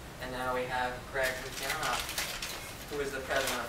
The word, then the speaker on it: Lukianoff: So without further ado, I give you the president of FIRE, Greg Lukianoff.